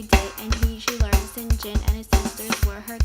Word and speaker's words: St John: of a guy name St John pronounced s Jin for a year she